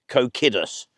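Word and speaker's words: Cocidius: was called phom kidi I really want to say phom coidus but I think it should be pronounced coidus and we believe that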